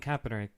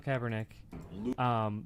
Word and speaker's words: Kaepernick: So say, but he when doesn't the act Kaepernick like thing one.